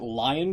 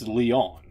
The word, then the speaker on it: Lyon: well I mean I I would pronounce it lion France but it's it's not it's it's Leon it's not lion yeah it is Leon